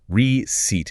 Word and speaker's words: receipt: The emphasis is heavy on the second syllable. The first part is a soft re. The C sounds exactly like an S. And the EI combination stretches out into a long E sound. Receipt. Short pause. Receipt. It rhymes perfectly with seat, like a chair you sit on.